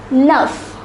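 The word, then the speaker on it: neuf: it's pronounced as with the number nine is pronounced as Nuff and the number 10 is pronounced as this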